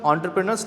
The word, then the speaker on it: entrepreneur: the previous generation of एंटरप्रेन्योर्स down ठीक अच्छे ये ENTREPRUNURS या प्रोनाउंस करा जाए एंट्रेप्रेन्योर इट्स नॉट एंट्रे इट्स एंट्रे ठीक अच्छे इट इज a French word it is pronounced as एन एंटरप्रेन्योर ठीक अच्छे I felt